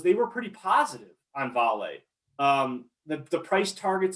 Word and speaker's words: Vale: a couple years ago it's uh it's called vale uh and it's spelled v-a-l-e but it's pronounced vale it's it's it's the